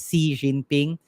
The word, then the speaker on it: Xi Jinping: a random trivia thing Xi Jinping apparently the XI is uh pronounced like C so it's C Jinping um so it's an